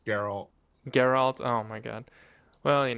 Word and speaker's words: Geralt: first song we will look at is uh giralt of rivia which is supposedly the main theme you do you want to pronounce that better than me it's carol geralt oh my god well you know i get